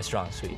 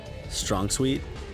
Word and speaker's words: strong suit: aren't my strong suite so strong suet is it strong suit yeah is it really yes I've been saying it wrong my whole life wait really yeah I've been saying strong sweet oh I've been saying